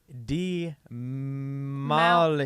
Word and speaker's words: Damali: polished video a shot also it's pronounced d mala he won d mati